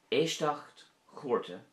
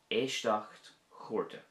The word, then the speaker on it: Éisteacht Chúirte: Éisteacht chúrte would be a court hearing. Éisteacht chúrte.